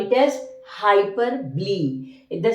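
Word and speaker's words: hyperbole: personification next comes to hyper ble actually the spelling is like hyperb but the way we pronounce is hyper B hyper B see hyperb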